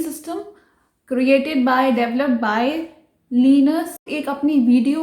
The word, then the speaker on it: Linux: when I started Linux, लिनक्स कह के, नॉट लाइनक्स। इट्स नॉट लाइनक्स, although उसने ये बोला